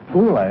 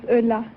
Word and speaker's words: Eula: like to very much hula is that right is that how you pronounce it no my name is eula french have a boyfriend